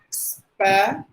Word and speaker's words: special: It should be like this. Special. Just like the word shell. Special. That's how we have to pronounce this word, not based on the spelling.